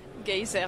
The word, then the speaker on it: Geiser: Je prononce bien votre nom? Geyser, en fait, c'est d'origine suisse-allemande.